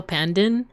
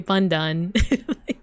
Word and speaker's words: Pandan: Like, I'm actually saying it wrong. It's supposed to be Pandan. I just have that thick American accent.